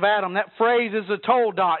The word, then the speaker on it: toledot: Now, you've heard me in the last few weeks discuss this term toledot, T-O-L-E-D-O-T-H. From where I'm from, that's toledoth. But toldot, I'm told, is how they pronounce it.